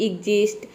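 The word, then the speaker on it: exist: अब समझते हैं यहां पे है एजिस्ट तो एजिस्ट में देख सकते हैं कि आधा ग और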